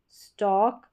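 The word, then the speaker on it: stalk: अब ये जो स्टॉक है ना इसमें भी इसमें भी एल साइलेंट है।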